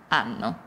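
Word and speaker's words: hanno: a abbiamo avete anno in italiano non si pronuncia mai l'arca quindi io ho anche se vedi un acca non si pronuncia quindi io o tu hai loro anno e per finire ovviamente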